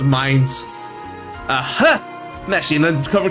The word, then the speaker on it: Mines: Oh man, I pronounced it Mains. It actually is pronounced Mines.